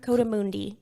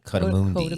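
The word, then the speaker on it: coatimundi: Cotamundi. Cotamundi.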